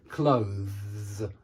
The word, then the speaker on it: clothes: I hope you can tell as well that it's only one syllable. Yeah, there's the syllable. Clothes. It's not clothes, which is what some students say. They make it two syllables and they go clothes, clothes. And that's not right at all. And no one will understand you if you say clothes. And so say clothes, clothes, clothes.